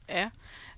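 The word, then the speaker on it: へ: This is the hiragana he, but if you're using it as a particle, it's just pronounced e, and they're pretty much interchangeable.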